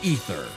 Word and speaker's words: Aether: So, I mean Ether because the A is silent.